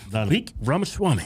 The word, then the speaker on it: Vivek Ramaswamy: Vivek Ramaswamy. A lot of people on the right don't even take the time to pronounce this dude's name right.